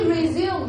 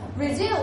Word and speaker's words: resume: do something right but when it is used as a n it shall be pronounced as resume that is the application form that you will fill in including your name your age